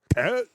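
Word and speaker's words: Tết: Yeah, it sounds like It's not a t. It's a th. it's spelled with a T though, but it's like Yeah, but we don't yeah, have no.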